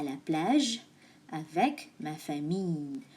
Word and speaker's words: famille: Moi, je suis allée à la plage avec ma famille. Famille, the L is silent. It replaces with Y. Famille.